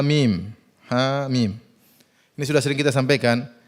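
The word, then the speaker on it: حم: Mim Alif Lam Mim HAM mim dibaca ha mim Yasin jangan dibaca Yas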